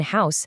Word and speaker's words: house: In house, that H is forcefully pronounced. It's a hard consonant sound, so it simply gets an A.